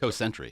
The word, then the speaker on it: Cosentry: Cosentry.